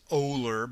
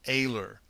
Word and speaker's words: Oehler: Mike aor now okay I see that it's oler but it's he actually pronounces it AER all of this video